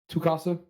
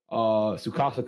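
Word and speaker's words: Tsukasa: The big dude, Tukasa. Sukasa? Is it Sukasa? Yeah, the T is silent. Oh, okay, yeah, okay, yeah. Yeah, So Sukasa. Sukasa.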